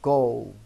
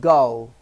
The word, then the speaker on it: Go: সবার আগে উচ্চারণটা আপনাদের বলে দিই, আমরা কিন্তু গো বলি, এটা কিন্তু সঠিক উচ্চারণ নয়। আসলে উচ্চারণটা হচ্ছে গাও, অর্থাৎ ওর সাথে একটা লাউয়ের উ টান থাকবে।